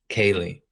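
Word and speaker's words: cèilidh: this Scottish uh type of event called the Kaye is that how you say it yeah Kaye it's interesting because it's word as well that's pronounced the same way it means like playful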